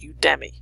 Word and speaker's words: Udemy: Udemy, I think it's pronounced Udemy.